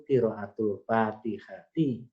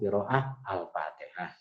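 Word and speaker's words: قراءةُ الفاتحةِ: Ar-rabi'u utawi kang kaping papat iku qiraatul Fatihati, membaca Fatihah. Jadi bacanya sampai qiraatul Fatihati. Jangan dipotong-potong qiraah al-Fatihah.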